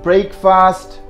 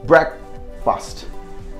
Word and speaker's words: breakfast: it very interesting pronunciation we pronounce it break fast break fast to be honest this is Brack c1 is break and the other Bracke Bracke Bracke I'm not saying that is break Bob Brack see if you divide that into two syllable this is going to be like this look be be r e k consider that one syllable and then if a yes T so that should be Breck fast breath fast I took